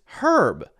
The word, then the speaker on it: herb: both of those those both don't have a pronounced H at the beginning it's herb and our whereas in British English you get our but it's herb so you hear the H there inconsistent a little bit